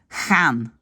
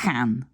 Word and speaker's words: gaan: Alors qu'aux Pays-Bas, ils disent tout le temps, gaan, hein? We gaan. Et même parfois, il y a presque comme un r, we gaan, hein?